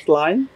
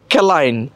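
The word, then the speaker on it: Céline: সি ই এল আই এন ই এটার কি স্লাইন যেটা গরমের মধ্যে মানুষজন খাইতেছে এখন স্লাইন ওর স্লাইন এটা কি ওর স্লাইন ব্র্যান্ডের এইটা হচ্ছে প্যারিসের প্যারিসের স্লাইন হ্যাঁ ওয়াও তাহলে এটা তো আমি উচ্চারণ করতাম কেলাইন কিন্তু কেলাইন হবে না এটা কি হবে ওয়াও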